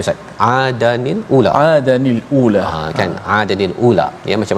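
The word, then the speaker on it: عَادًا الْأُولَىٰ: Salah satunya adalah Adal macam mana bacanya, Ustaz? Adanil ula.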